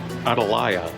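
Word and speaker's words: Atalaya: there yeah they in adalaya is the way to pronounce it it was the home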